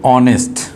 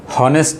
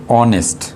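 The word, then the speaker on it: honest: দেখো an hour, এখানেও দেখো সেম জিনিস, এটা উচ্চারণটা হলো অনেস্ট, ওর থেকে উচ্চারণটা শুরু হয়, আর এইচের উচ্চারণটা কিন্তু হয় নাই, হনেস্ট নয়, এটার উচ্চারণটা হলো অনেস্ট।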